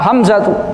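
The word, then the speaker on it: حمزة: Ya kalau di kita mungkin Hamzah kalau di tapi kalau di Arabkan ya Hamzatu Hamzatu Hamzatu ee kalau tapi kita kan sering apa sering ee memanggil itu enggak lengkap ya.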